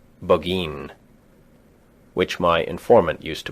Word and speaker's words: Burgoyne: Nutting had a famous foxhound named Burgoyne. He pronounced it Buggeen, which my informant used to borrow.